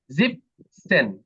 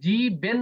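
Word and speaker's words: siebzehn: জি বেন তাই না এখানে কিন্তু মনে রাখতে হবে জি বেন না কিন্তু জিপসেন এখানে কিন্তু জি বেন না কিন্তু অধিকাংশই ভুল হয় এখানে যে জি বেন বলে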